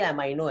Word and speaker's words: amino: तो नाम से ही हमें समझ में आ रहा है बेटा, अमाइनो, कुछ लोग एमिनो प्रोनाउंस करते हैं बेटा इसे। तो देखिए अमाइनो या एमिनो जो आपको बोलना है कोई प्रॉब्लम नहीं।